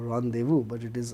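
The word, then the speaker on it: rendezvous: d e w o rendevu. But it is r e n d e z v o u s because it is a French word. The French pronunciation is different from English pronunciation.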